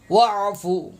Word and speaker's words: واعفو: بھی ٹھیک کر لیں، واو عین زبر وا، واو عین زبر وا، واعفو واعفو عنا، انا نہیں،